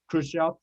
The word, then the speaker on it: Khrushchev: out why you have russian names that end with ev but they're pronounced like off like gorbachev or khrushchev yeah i never could